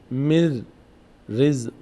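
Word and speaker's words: من رزق: یکی از حروفونه یعنی نون تبدیل باید بشه به را نون تبدیل میشه به را و نون تلفظ نمیشه اینجا دیگه نون تلفظ نمیشه را نون تبدیل شده به ر به خاطر همین ر تشدید گرفته میشه چی مر ر تلفظ می‌کنیم مر رزق مر رزق نون اینجا اصلا در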